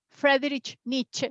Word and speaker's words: Friedrich Nietzsche: As he was from German, we have to pronounce till the end. Friedrich Nietzsche.